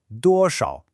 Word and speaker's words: 多少: 多少. The first character, 多, is a nice and easy first tone. The second one, 少, is a third tone. Remember that characteristic dip and rise, 少.